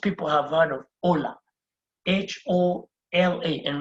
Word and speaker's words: hola: have heard of hola, H-O-L-A. And remember, H is silent. That's why I'm saying hola.